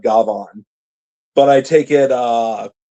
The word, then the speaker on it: Gavan: Gabon. Yeah. Okay. Is that what uh I know that's the Japanese pronunciation of Gavon, but I take it uh you're talking about uh potential Gavon Gbon.